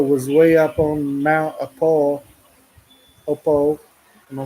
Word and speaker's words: Apo: We where we wanted the food to go was way up on Mount Opo. Am I saying it right? Mount Apo.